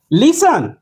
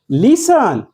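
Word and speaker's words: listen: T silent आहे वच लिसन लिसन या शब्दात सुद्धा टी सायलेंट आहे यांना म्हणतात सायलेंट लेटर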